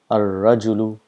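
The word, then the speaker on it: الرجل: It's at-tajiru, at-thawbu, ad-diku, az-zahabu, ar-rajulu, as-samaku. So this is how it is pronounced. The lam becomes silent.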